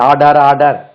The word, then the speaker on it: order: ஆர்டர் பாருங்க, இது ஆர்டர், ORDER பாருங்கண்ணே, இது ORDER. இதுக்கு உச்சரிப்பு பாருங்க, ஆர்டர். வேணும்னா தமிழ் இப்படி வேணாலும் எழுதிக்கலாம், ஆர்டர், ஆர்டர், ஆர்டர். இது உச்சரிக்காது, ஆர்டர்.